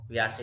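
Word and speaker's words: Piaget: di sini nih tentang pias ini kalau bacanya Jin pias Ya saya sering mendengarnya pias itu cara membaca orang-orang yang yang katanya begitu panggilannya pias jadi siswa SD usia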